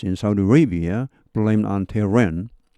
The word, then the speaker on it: Tehran: Saudi Arabia blamed on Tehran. H가 발음이 납니다.